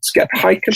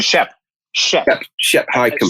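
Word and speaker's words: Shep Hyken: I think it's Skep. Is that right, Neal? Skep Heiken? Shep Heiken. Shep, I think is how he pronounces it.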